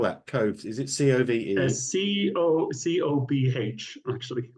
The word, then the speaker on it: Cobh: Is it C-O-V-E? C-O-B-H, actually. It's an Irish word, yeah. C-O-B-H, but it's pronounced Cove with a Cove.